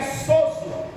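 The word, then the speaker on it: σῴζω: Então a pronúncia aqui é sozo, que é combinando as dimensões físicas e espirituais.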